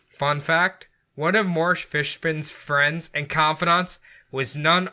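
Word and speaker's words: Fishbein: I looked up how to pronounce it, Fishburne. Fishbin?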